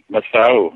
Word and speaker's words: Masau: We were talking about Betelgeuse and Katinas, and now we're talking about, is it Masau? Is that how you say it? Masau, yeah.